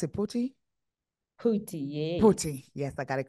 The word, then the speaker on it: Phuti: So how do I pronounce it, Phuti? Phuti, yes, I got it correct.